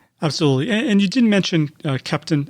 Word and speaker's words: Keptn: And you didn't mention Kepton.